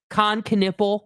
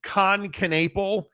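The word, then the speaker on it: Kon Knueppel: And please say dude's name right. Con Knipple. That's how you say his name.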